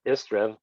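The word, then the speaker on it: Istredd: First, I liked that Istrid, or Istrev, as the book pronounced it, because the double D in Welsh, which is what the Elder tongue is based on, is a TH sound, like in the word the.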